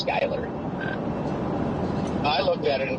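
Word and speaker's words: Schuyler: And I'm like, "No, it's it's Skyler." I looked at it and thought it was Sheler. You said it's Skyler. Interesting. No, it's not Skyler. I think he's lying. Yeah, the U. Just ignore the U.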